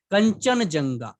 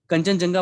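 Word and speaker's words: Kangchendzonga: English में spelling काफी इसकी साइलेंट वाली है, मतलब KHANG, तो जी साइलेंट हो जाता है, CHEND, डी साइलेंट हो जाता है, ZONGA, ये इसकी पूरी स्पेलिंग है इंग्लिश में। तो यहाँ जी साइलेंट हो जाता है, यहाँ डी साइलेंट हो जाता है, और इसे हम फ्लो में हम जो नॉर्थ इंडियंस हैं कंचनजुंगा पढ़ देते हैं।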